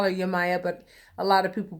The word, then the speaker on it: Yemaya: in particular is yet Yemaya I call her you Maya but a lot of people pronounce her name yeah Maya that I call her you Maya um little